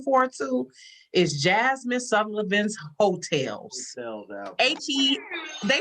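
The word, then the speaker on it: Heaux: that i'm looking forward to is jasmine sullivan's hotels they spell it the way y'all do actually h-e-a-u-x that's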